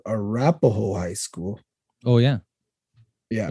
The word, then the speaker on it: Arapahoe: Arapahoe is a mispronunciation of the Crow word Really?